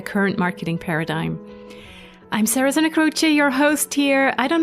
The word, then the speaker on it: Santa Croce: a beautiful last name especially if people know how to pronounce it in Italian which would be Santa